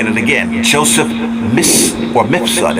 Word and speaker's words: Mifsud: Joseph Mifsud. It's spelled M-I-F-S-U-D.